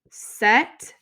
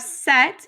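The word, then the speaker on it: cette: vowel next we have set with two t's and an e and so set is something that's feminine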